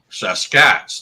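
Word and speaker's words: Sasq'ets: of the stahlis word saskats the best way to pronounce that is take the word basket drop the B of that s-e-s to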